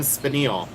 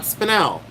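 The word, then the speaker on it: spinel: Captain and Spanil. Did you guys know there's a gemstone named after Captain and Spinal? There is. It's called Spanil, not Spanel.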